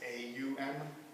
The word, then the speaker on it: Om: little symbol over there that's called um om o m um pronounced as a m so Hindus believe that